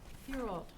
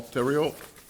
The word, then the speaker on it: Theriault: Thierold. we pronounce it Theriault. Thank you. I guess there's some silent letters there.